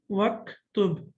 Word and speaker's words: واكتب: Okay, now we know that the Hamza of uktub is Hamzatul Wasl, and when we connect it, we don't pronounce it. We don't read it. So that's why we say waktub.